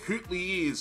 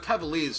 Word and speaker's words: Coutiliers: I think it's meant to be pronounced coutiliers or some bullshit, but Cavaliers sounds way better.